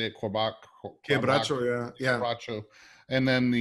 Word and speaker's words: quebracho: Quebracho, yeah.